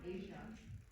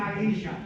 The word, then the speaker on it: Aisha: It's Rocky, Adam, and Asia. I mispronounced it. You said Billy. I'm very tired, and I'm on so much caffeine. Sorry. Rocky, Adam, and Aisha replace the 3 Rangers.